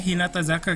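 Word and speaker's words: 日向坂: Bacanya Hinata Zaka gitu ya?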